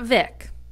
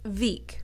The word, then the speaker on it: Vík: It's not Vik, it's Vik. Pretty simple, right?